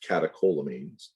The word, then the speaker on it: catecholamines: but you'll hear people use that term it's pronounced catecholamines and in this case epinephrine and norepinephrine are